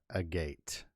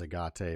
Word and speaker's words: agate: that tiger eye and a gate i thought it was agate but it's pronounced a gate and that those stones